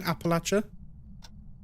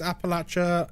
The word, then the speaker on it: Appalachia: Appalachia? Is that not right? It's Appalachia and the Appalachian Mountains. That's how everyone says it.